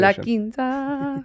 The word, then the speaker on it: La Quinta: Am I saying it right? Yeah. Okay, good. It's actually beautiful pronunciation. La Quinta.